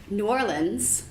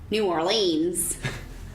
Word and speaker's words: New Orleans: Donc on va laisser Brie nous démontrer toutes les manières de prononcer every way that we can pronounce Nouvelle-Orléans. New Orleans, New Orleans, Nolans.